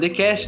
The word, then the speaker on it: D.cast: E também não se esqueça de seguir o próprio TheCast no Instagram, thecast.oficial. O D é mudo, lembrando todos.